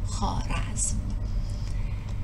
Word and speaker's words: خوارزم: و خوارزم کما تذکرون الواو قبل الالف تکتب ولا تلفظ و لحاظا تلفظ خوارزم.